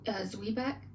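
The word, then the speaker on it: zwieback: in a minute the word is uh it's pronounced zwe back z-w-i-e-b CK it's a type of toast um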